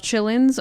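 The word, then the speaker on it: qilin: If anybody is curious about looking up Chillins on the internet, it is spelled Quilin.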